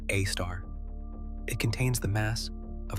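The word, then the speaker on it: Sagittarius A*: The one at the center of our Milky Way is called Sagittarius A, pronounced A star.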